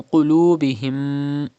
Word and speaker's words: قُلُوبِهِمْ: And then qulubihim. Pronounce qaf with thicker voice because it is a mustaliya letter.